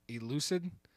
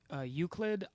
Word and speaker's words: Euclid: Is it elucid? Is the second one, right? Elucid. Euclid. Euclid. I'm pretty sure.